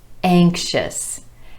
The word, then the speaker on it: anxious: And one last example, anxious, anxious. 2 syllables with emphasis on the first syllable, the A vowel sound.